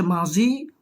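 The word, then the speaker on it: ماضی: আচ্ছা, তো সেক্ষেত্রে আমরা মাদি না বলে মাজি বলি, কেননা এটা হচ্ছে ফার্সি কিতাব। তো ফার্সির মধ্যে দোয়াত আসলে আমরা জানি সেটা জয়ের মতো উচ্চারণ হয়, সেজন্য অনেকে মাদি বলবেন না। যখন ফার্সি কিতাব পড়বেন তখন মাদি হবে না, বরং এটা মাজি হবে, মাজি।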